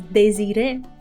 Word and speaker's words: Désiré: Yeah, that's what I was thinking, if I should pronounce both E's, if there's accents. I wish they would include accents, because then it will make it a bit easier for me to understand. Oh, I need to pronounce it as désiré, for example, right? That would make a lot of sense.